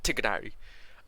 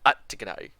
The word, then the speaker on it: Tignari: I'm calling him Tignari. Tignari.